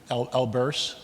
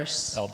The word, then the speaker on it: Elberse: elbery is that right I can't hear you elur elur Elis Elis many def many pronunciations of good old Anita's last name Anita